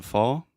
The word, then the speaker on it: fall: your voice so first the pronunciation of the verb to fall so this is the all sound more or less just like ah important in Portuguese like family saw yeah so you have